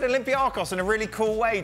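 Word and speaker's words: Olympiacos: I guess I'm channeling my inner Derek Ray and calling them Olympiakos.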